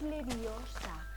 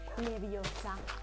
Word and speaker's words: Leviosa: regla nos dice que si una palabra termina en N en s o en vocal el acento prosódico la fuerza recae en la penúltima sílaba Entonces esta palabra termina en vocal y no tiene ninguna tilde eso significa que la sílaba tónica es la penúltima orate es leviosa No leviosa porque no tiene tilde y Qué pasa si